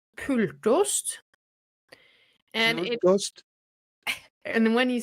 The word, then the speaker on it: Pultost: You said you pronounced it differently the first time. Pultost.